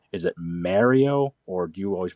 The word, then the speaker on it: Mario: italian-american jersey new york almost no one pronounces it mario it's mario and i think the